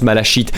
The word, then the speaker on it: malachite: Ça se prononce malachite.